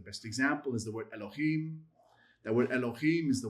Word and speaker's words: Elohim: You would never say Elohim. You'd say Elohim. Why is it Elohim? Why is it so short in that first vowel? Because of the schwa. It just shortens the pronunciation when it's at the beginning of a word.